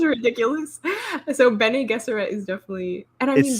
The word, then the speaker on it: Bene Gesserit: The Bene Gesserit, is that how you say that? Is that correct? Yeah, I've been watching Quinn's ideas, and he said it. I always said Bean Gesserit.